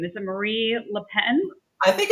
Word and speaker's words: Marine Le Pen: Is it Marie Le Pen? I think it's Marine Le Pen.